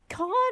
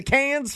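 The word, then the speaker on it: Cannes: Can I ask is it con or is it the canned film festival?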